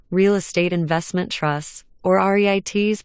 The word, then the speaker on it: REIT: to investors REITs real estate investment trusts or reit's pronounced REITs are companies that own and collect rent